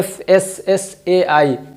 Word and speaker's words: FSSAI: हैं, जो भी बोले, लेकिन असल इसका जो प्रोनाउंसिएशन है वो है FSSAI, चूँकि ये शॉर्ट फॉर्म है।